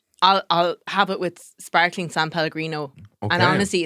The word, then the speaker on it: San Pellegrino: San Pellegrino. I'm an 8th Italian, so I should know how to say it. San Pellegrino.